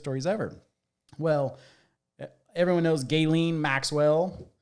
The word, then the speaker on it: Ghislaine: ever well everyone knows gayen Maxwell you said it right this time Jay I actually spelled it wrong to say it right you know like the gay not g y l yeah but uh they're